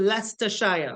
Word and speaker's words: Leicester: coun is there just like G is called leester I could spell that for yall it's Lei right L eii